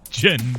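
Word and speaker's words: djinni: the end i mean like the proper pronunciation is gin so yeah now that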